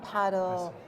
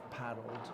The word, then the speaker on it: padel: You go to the spa, you go and play paddle, there's a great restaurant, you don't need to go anywhere else.